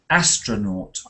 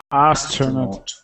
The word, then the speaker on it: astronaut: but don't say it like or O say astronaut astronaut because actually I don't think that the spelling